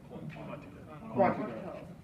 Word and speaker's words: Quantico: He is also a graduate of the prestigious FBI National Academy in Quantico, Virginia. He holds, did I pronounce that right? Quantico.